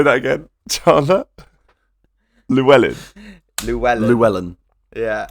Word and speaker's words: Llewyn: There's a lot of the Coen brothers influence in this, starting with, I would say, Inside Llewyn Davis.